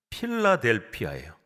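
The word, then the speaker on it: Philadelphia: 이제 우리말로 번역하다 보니까 발음이 좀 달라졌는데 헬라어 그리스어라 하면은 필라델피아예요.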